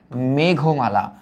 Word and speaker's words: মেঘমালা: এটার উচ্চারিত রূপ হবে মেঘমালা।